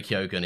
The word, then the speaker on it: Keoghan: No, I know, but is it pronounced Keoghan? I thought it was Keegan. No, I used to think that, but I've seen him in a few interviews where he says Keoghan himself. So okay, yeah, fair enough. But I think the actual Irish pronunciation is probably something way different, but he doesn't use that in interviews and stuff.